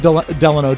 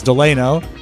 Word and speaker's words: Delano: I would have said Delano too, but it's Delano and it's Haleiwa.